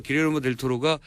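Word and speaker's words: Guillermo del Toro: 가져오신 게 있어요 감동 얘기가 잠깐 정리가 안되요 길예르모 델 토로가 멕시코 3대 감독이고 여러분들도 아시는 등 안 기아는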